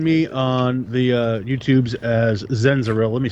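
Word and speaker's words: Xenziril: So you can find me on the YouTubes as Zenziril. Let me spell that out for you because it's literally kind of not phonetically correct.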